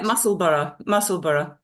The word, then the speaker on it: Musselburgh: And is it Musselburgh? Is that how you pronounce it? Yeah, Musselburgh.